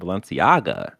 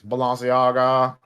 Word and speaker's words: Balenciaga: collaboration with fashion brand valenciaga you're saying it wrong it's balanciaga i need about two